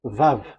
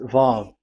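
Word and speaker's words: ו: Vav. So it's V as in Vogue. So it's really V. How to read Vogue? So the word, the shape Vav is really pronounced V, like Vogue.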